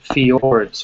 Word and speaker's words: fjord: structures in Norway called fjords right it's pronounced fjord in the in the Norwegian language in English someone who